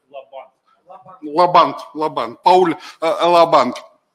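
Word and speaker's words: Laband: из учителей ми Пау ударение на первое наверное лабан лабан лабан лабан Пауль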